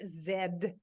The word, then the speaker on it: Z: Because it's actually pronounced Zed up in my neck of the woods.